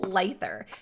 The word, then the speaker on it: Leither: i think it's lather because if it's german my name is which is ie so in german you always say if there's an e i or i e together you always pronounce it with the second letter of the e i or the ie so i'm c for